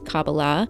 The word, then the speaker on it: Kabbalah: two forms of cabala I will pronounce cabala written with a K in the way that the rabbis pronounce it that's cabala and I will pronounce